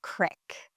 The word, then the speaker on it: creek: And by the way, you'll hear some of the locals pronounce creek as crick.